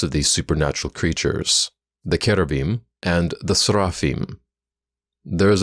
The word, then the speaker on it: cherubim: were in fact kerbim most english speakers mispronounced kerabim as cherubim simply because that's how it seems like it should sound to our language rules furthermore the icons of